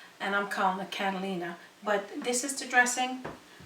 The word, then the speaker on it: Catalina: taste so just in case I'm pronouncing the name wrong it's properly Catalina and I'm calling the Catalina but this is the dressing delicious now I'm